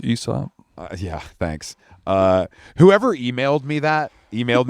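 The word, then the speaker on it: Aesop: ranch, they had stocked it with all the ASOP products. So there's a candle here. It's actually pronounced ESOP.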